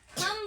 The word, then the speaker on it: thumb: जैसे में THUMB, थम बोलते हैं, बोलते हैं का ब लास्ट में नहीं ना बोलते हैं, बी है वो क्या होता है, साइलेंट।